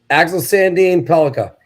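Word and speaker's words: Axel Sandin-Pellikka: Axel Sandin Pelika.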